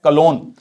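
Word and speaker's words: Cologne: तो देख लो, Washington DC ये हमने देख लिया, यंगून, मैंडले, राइन का है कलोन, ये कलोन है, ये जी साइलेंट है, ध्यान रखना, ठीक है।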